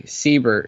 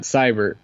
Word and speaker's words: Seibert: been saying it wrong it's actually Seibert it's not cyber you know we've been saying it wrong Jay Crawford corrected